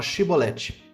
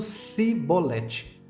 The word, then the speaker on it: chibolete: os que desejassem atravessar deveriam pronunciar a palavra chibolete os afroditas que não conseguiam articular o som de ch nessa palavra e a pronunciavam como sibolete eram identificados pelos seus sotaque e consequentemente executados